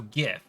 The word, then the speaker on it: GIF: hold on do you do you pronounce it gif or gif with a hard or soft G now there is supposed to be a th close see there's a th hard G so gif that is the correct way I don't care what